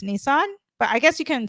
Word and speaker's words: Nisan: So they celebrate it on a lunar calendar, and the Hebrew calendar of the month is Nisan, like with one S, but it's pronounced Nisan.